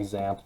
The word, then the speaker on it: XAMPP: to go ahead and just type in like zamp download this is how you spell it x-a-m-p-p uh download uh once you get